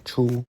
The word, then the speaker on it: 初: First tone, chou.